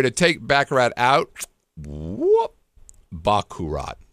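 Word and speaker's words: baccarat: take backarat out wh Bak kurat okay I think I'm saying it wrong bakat um being corrected in the live chat that's they love me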